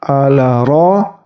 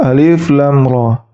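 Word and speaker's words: الر: alif lam dan Ro Jadi bukan dibaca ala ro tapi dibaca alif lam ro untuk Alif terdiri dari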